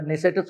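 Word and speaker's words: Knesset: इस्राईलच्या लोकसभेमध्ये ज्याला तिथे नेसेट म्हणतात केनी सुरुवात होत स्पेलिंगच नेसेट त्याचा उच्चार नेसेटच होतो तर त्या नेसेट मध्ये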